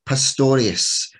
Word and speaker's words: Pastorius: bass players that florida has to offer dave pastorius am i saying your last name right dave